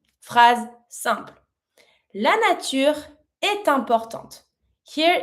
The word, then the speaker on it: importante: And I pronounce my last T from importante because it's in front of the mute E. So, I do pronounce it. La nature est importante.